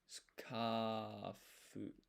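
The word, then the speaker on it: スカーフ: And you start off with, so this, it's just an S here, but it's actually skafu. Like the U here is silent.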